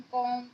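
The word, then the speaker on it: calm: तो कभी भी ऐसा तो नहीं है कि सभी जगह बी साइलेंट होगा, लेकिन कुछ ऐसी वर्ड मीनिंग है जहाँ पर बी साइलेंट होता है, जैसे कि बॉम, कॉम, टॉम, डाउट।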